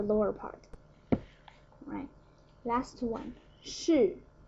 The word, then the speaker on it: 室: Alright, last one, 室, 室, fourth tone.